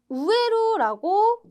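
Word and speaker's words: 植える: 자, 쇼크부츠라고 나와 있는데 여기 있는 요 한자 식물의 식자 우에루라고 발음하는 동사가 있겠습니다.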